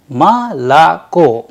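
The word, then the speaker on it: молоко: a word of russian the word is malacco but the stress is in the first o so it sounds like malacca whereas it has 3o so malacco is pronounced as ma la because o not under stress turns into a that is why it sounds like ma la co the stress falls on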